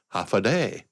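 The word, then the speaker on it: Håfa Adai: There is a native language called Chammoro, and they have a universal phrase similar to Hawaii's aloha that's pronounced half a day.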